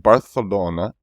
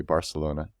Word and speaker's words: Barcelona: It's actually pronounced Barcelona. That's how I believe I'm doing it right. Barcelona. It's pronounced like that. I say it the American way. Barcelona.